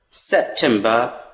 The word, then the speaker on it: September: September, ending the word R is silent here. September. In the same case, October.